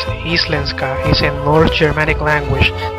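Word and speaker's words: íslenska: Icelandic pronounced as Islenska is a north Germanic language the main language of Iceland.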